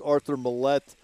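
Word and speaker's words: Arthur Maulet: But some of the complementary types, I'm talking about players such as Arthur Millette and DeMonte Casey.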